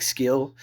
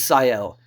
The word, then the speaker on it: Ciel: I always pronounce it like Skill, but it's Ciel.